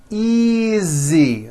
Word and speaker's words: easy: those are my books easy again the S is like a voiced Z easy this is